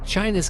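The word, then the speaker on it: Qin: turn communist China on its head since then China has made extraordin dries and there is fuse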